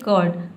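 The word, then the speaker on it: curd: र को साइलेंट रखना है। जो ऊपर आप देख रहे हैं इस तरह से जो रेफ दिया है इसको आपको क्या करना है? साइलेंट रखना है। आपको बोलना है कर्ड।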